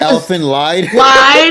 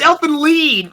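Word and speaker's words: Elfen Lied: __ ] that up what they call it elephant lied yeah it's elf and Lead thank you not a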